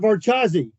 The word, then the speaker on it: Varchas: about varaz or no I said what about vazi and and I you know I pronounce it a whole and he goes Hey